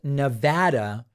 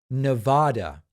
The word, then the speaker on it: Nevada: hoe says love your stuff but it's it's pronounced Nevada not Nevada I can't seem to get it right and